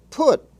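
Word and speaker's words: putt: Also in the but, cut, hut family, we have put, with its own vowel sound. Put, a word used in golf, is pronounced with a regular short U.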